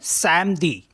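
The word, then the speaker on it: samedi: एम अ दे ई तो इसको पढ़ेंगे हम समदी समदी comes from the word सटम the Holi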